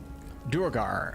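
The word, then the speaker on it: duergar: let's go back around durgar official dictionary pronunciation is where the final r is not pronounced probably due to the how the norse say it dwerga dwarga so so nobody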